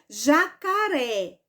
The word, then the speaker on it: jacaré: sorte for é justamente Então esta palavra ela é oxítona porque oxítona porque a sílaba mais forte é a última sílaba ok certo e vamos